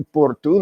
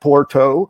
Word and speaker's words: Porto: arera I'm going to Porto not Porto I'm going TOA not Lisbon or Lisbon you know so there's